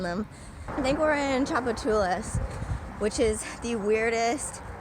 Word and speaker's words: Tchoupitoulas: it at all because it starts with a T and it's called Tchoupitoulas so yeah there's actually